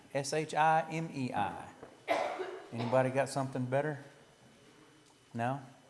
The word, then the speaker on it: Shimei: I'm going to say Shimei, S-H-I-M-E-I. Anybody got something better? No? All right. Say again? Well, how would you pronounce it? Shimei.